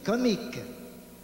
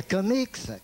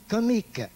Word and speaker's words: comique: Pas comics, comique. 3 syllabes. Co-mi-que.